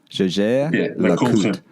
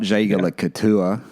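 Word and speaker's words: Jaeger-LeCoultre: Jaeger LeCoultre. Not Jaeger LeCouture. That's how I used to say it.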